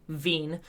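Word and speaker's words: Wien: that's the stefan-boltzmann law Vin's law pronounced Vigne beens law says that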